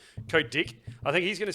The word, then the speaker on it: Kotick: It's Bobby Kotick. Kotick. Yep, I like that. I was about to believe you. Think I actually had it wrong for a second, but no, you're right. Kotick.